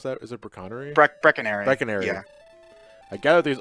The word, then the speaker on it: Brecconary: How you pronounce that? Is it Brecconary? Brecconary.